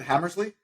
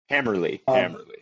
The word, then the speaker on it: Hammerly: And how do I pronounce it? Hammersley? Hammerly.